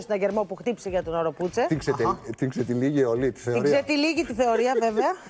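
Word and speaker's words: Oropouche: Ο παγκόσμιος ιός που απειλεί και αφού ρώτησα και φίλους Ισπανόφωνους λέγεται οροπούτσε.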